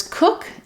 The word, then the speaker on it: cook: then for the words cook and cooked this one doesn't follow the rules typically letters oo are going to say the oo vowel like in um room